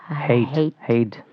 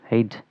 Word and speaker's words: Heydt: How do you pronounce it? Heydt. Heydt.